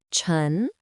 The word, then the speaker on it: 尘: Its pronunciation is chun. Let's guess what this character means. Hm. What could very small earth be? Haha, you must have guessed it. Chen means dust, dirt, or tiny particles.